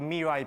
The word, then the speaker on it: mirai: in the talk so Mei is Japanese for future and I'm calling it me but I know it's Mei actually the r in Japanese is pronounced more like an l and I I just